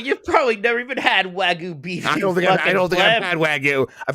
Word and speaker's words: wagyu: you say that wagyu beef wagyu it's a w-a-g-y-u so it's wagyu wagyu yeah we're supposed to